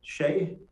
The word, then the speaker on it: Shea: thank you Dan uh Shea is that the correct yeah that's how you pronounce my last name um I just had